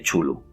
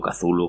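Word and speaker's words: Cthulhu: mitos los mitos de chulu sobre una vasta mitología de monstruos titánicos Por cierto chulu pues puede ser chulu culu catu o como lo quieras porque no hay manera de pronunciarlo Así que hoy creo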